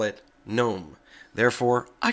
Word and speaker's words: GNOME: who call it gnome it is pronounced gnome and I reference that to The Gnome project itself if you go